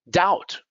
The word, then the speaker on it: doubt: don't pronounce the b doubt you don't pronounce the b bomb it's not bomb